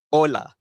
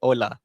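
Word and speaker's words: hola: Ola. Okey, ola. Macam tadi saya cakap, H ni silent.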